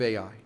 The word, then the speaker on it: Ai: the name of AI actually the Hebrew pronunciation would just be AI because it was such